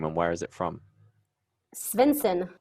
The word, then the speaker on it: Svendsen: where is it from svinson um it is danish oh very nice yeah